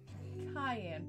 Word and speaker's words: Cayenne: being a me Mom Cayenne pronounced like the pepar because because because then